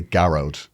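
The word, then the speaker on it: Gearóid: But I say Gearoid. Plus, in Irish, if it's an Irish spelling, which it is, right? Yeah. The thing is, the pronunciation is on the first syllable.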